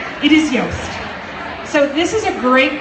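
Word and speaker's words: Yoast: someone actually told me it rhymes with toast it is yast so this is a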